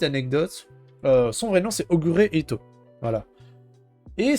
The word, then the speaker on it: Ogure Ito: Et d'ailleurs, petite anecdote, son vrai nom c'est Ogure Ito. Voilà. Et si vous le prononcez un peu vite, Ogure Ito, Ogret. Voilà.